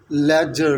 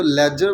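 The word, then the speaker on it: ledger: वो क्या होते हैं एल आई दी जी आई आर लेकिन वहां पर भी तो आप दी को प्रोनाउंस जो है वो नहीं कहते ठीक है बिकॉज वहां पर भी दी जो होता है वो साइलेंट होता है ठीक है तो सिमिलरली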